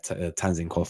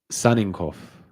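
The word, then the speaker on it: Tsygankov: We see how this one develops, but we'll see what happens with this guy, Tanzinkov from Girona or Victor. But if you guys, it's pronounced Saninkov. The T is silent.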